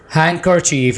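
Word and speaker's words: handkerchief: sandwich नहीं कहना सर्व हंडकेर्चीफ यहां पर हम डिगो साइलेंट रख रहे हैं आपको मैंने बताया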